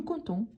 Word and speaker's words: comptons: nous comptons nous comptons n'oubliez pas que c'est PT mais le P on ne on ne prononce pas nous comptons venz vous voir vous